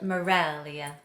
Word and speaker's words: Meraglia: It's because I married an Italian and nobody can say or spell Meraglia with a G in the middle. Wait, did I say it wrong? I always said it with a G. I know. It's Meraglia? Meraglia. With a silent G?